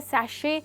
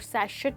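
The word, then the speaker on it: sachet: Okay दोस्तों, ये है सैशे, जिसमें टी साइलेंट है और सैशेट नहीं बट सैशे बोला जाता है।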